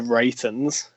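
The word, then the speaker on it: The Reytons: why bands such as the writings is how you pronounce it they're right from sheffield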